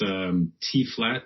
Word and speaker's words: tphlat: Oh yeah, on Twitter it's tflat, and it's spelled TPHLAT, and that's also linked from lostbooks.ca.